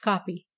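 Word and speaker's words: Kop: the new Rush the Colesburg cob pronounced copy and the Kimberly mine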